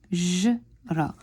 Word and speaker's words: حجرة: حجرة. We learned in previous lessons that we don't pronounce the ta marbuta or the circled ta.